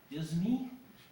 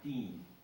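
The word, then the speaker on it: disme: Half Disney? Where did that come from? Well, it actually is pronounced half Dean.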